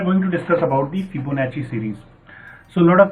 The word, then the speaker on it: Fibonacci: an Italian mathematician and in Italy double c i is pronounced as Chi so you might have